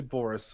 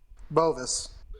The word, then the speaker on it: Bovis: Because I always want to say Boris, and I know that's not accurate. Bovis.